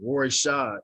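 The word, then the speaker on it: Royshad: know people looking at my name which is roy shaw r-o-y-s-h-a-d people looking at that i guess it was difficult for them to pronounce so they was mispronouncing it and i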